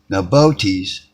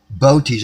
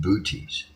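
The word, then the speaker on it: Boötes: There's 2 ways. Botes. I used to pronounce it booties, but booties is unique.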